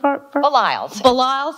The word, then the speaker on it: Baliles: Perry is the Gerald balilis did I get that right belials okay I say it rhymes with smiles there it goes okay